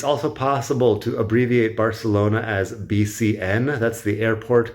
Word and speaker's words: Barcelona: But the Catalan pronunciation of Barcelona is more like Barcelona. The C is the S sound because they don't do the Spanish lisp. And the vowels are all a shorter vowel except for the O. So Barcelona is apparently how you're supposed to pronounce it, approximately.